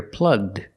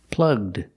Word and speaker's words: plugged: And if we change the verb to past, we hear plugged, plugged. The ed is pronounced with the D sound.